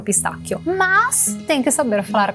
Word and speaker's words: pistacchio: Vamos começar pelo final. O, io, chio, k, como se fosse um que. Chio. Para criar o som que, se vocês em português utilizam que, o i, a gente em italiano utiliza CHE, mas o som é idêntico.